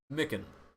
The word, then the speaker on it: Miken: Miken.